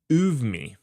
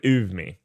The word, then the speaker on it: Oumi: It's Oumi. I'm going with Oumi. Oumi? No, there's no V.